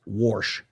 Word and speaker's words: Warsh: I guess it's pronounced Warsh, W-A-R-S-H.